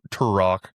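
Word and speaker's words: Turek: The science thing for me, one of my favorites is Frank Tur Tur Rock, that's how he pronounces his name, but he talks about how the axis of the Earth is at a very specific thing.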